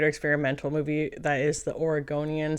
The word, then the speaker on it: Oregonian: case you didn't know and this movie is pronounced Oregonian before I did this review I saw who you know did anybody else talk about this movie on YouTube yet and I heard somebody Call It The Oregonian and I found that to be really offensive